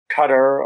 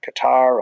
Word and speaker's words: Qatar: It's not as Qatar and not as Qatar either, but it's something somewhere in the middle.